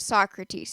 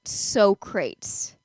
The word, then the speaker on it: Socrates: that's what Socrates said, but Michael said that's what so crates said. I believe that's how he pronounced it. And he had said it about three times and eventually Quincy said it's Socrates.